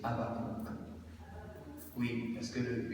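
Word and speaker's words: Habacuc: bon c'est vrai que les gens disent avac pour être fidèle à la langue française mais la prononciation juste c'est abakou oui parce que le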